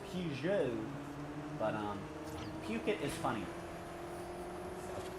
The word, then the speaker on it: Peugeot: It's not pronounced Pukit, by the way, Chad. It's Peugeot.